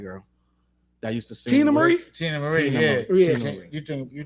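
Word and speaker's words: Teena Marie: Like I think our R Tier Marie and I mean I'm sorry. I'm sorry. I'm sorry. I I said her name wrong. Uh what's my what's the white girl that used to sing? Tina Marie.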